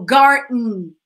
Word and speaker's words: garden: it's fine that but we usually make the D the letter D silent so garden garden okay uh ballroom